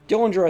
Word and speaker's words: Dillinger: One John Dillinger Dillinger Dillinger I think is what his name is pronounced as he was shot mortally